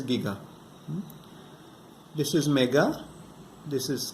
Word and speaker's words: giga: Some people think it's giga, but no, it is giga.